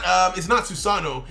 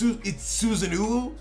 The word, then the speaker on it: Susanoo: Like, for instance, people are like, oh, it's not Susano. It's Susanoo.